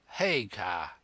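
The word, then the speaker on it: Haigha: His names His name is Hagar. He pronounced it so as to rhyme with mayor.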